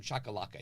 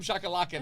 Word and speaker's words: Shahe Koulloukian: So open mic, ladies and gentlemen, introducing Shahe Koulloukian. He butchered my name. Right. And I was like, all right, not a big deal. So I got up. I go, hi, I'm Shahe Koulloukian.